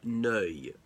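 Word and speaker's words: Neuilly: a district of Paris again the Treaty of no which the Allies signed with Bulgaria now know is spelled n e you I double l why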